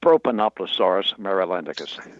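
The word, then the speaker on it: Propanoplosaurus marylandicus: And and the pronunciation of your dinosaur. Did I get that even close? Not quite. It's it's proponoplasaurus mealicus.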